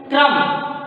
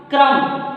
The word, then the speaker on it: क्रम: मिलकर म हुआ, तो इसका उच्चारण हम लोग करते हैं क्रम। क्रम, क को फास्ट बोलेंगे, जल्दी बोलेंगे, र में अ का उच्चारण करेंगे, म अ में भी म का उच्चारण करेंगे।